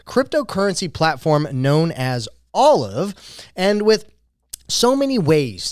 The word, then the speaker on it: OLLIV: buy from a friend peer-to-peer well I think Olive may have the answer the solution that you